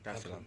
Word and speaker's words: Dar es Salaam: Did I pronounce that right? Yeah, Dar es Salaam.